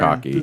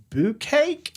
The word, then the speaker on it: bukkake: bukkake? Bukkake. I was like, is this boo cake? That's how I always used to pronounce it.